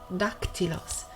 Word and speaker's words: dactylus: c taken away in dactylus which should be pronounced dhaktilos so it's possible here